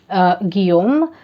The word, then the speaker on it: Guillaume: This is Islam by Alfred Guillaume. Yeah, that's how you pronounce it, and I know that because I read Giovanni's Room.